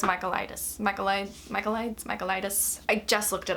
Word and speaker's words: Michaelides: It's called The Silent Patient by Alex I freaking just looked up how to say this name. I think it's Michaelides. I think, you know what?